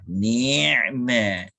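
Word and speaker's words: نعمة: Tak apalah, pronunciation kita sebut nikmat. Sepatutnya ain lah, ni'mat.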